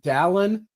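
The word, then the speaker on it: Dallin: Just announced President Don Harris Oaks. Simple. Don like Valon but with a D.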